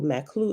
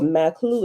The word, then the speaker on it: Maqlu: Maklu is spelled Maqlu.